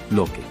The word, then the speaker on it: Loki: En los idiomas escandinavos continentales, como el sueco, noruego y danés, el nombre de Loki se pronuncia como Loke.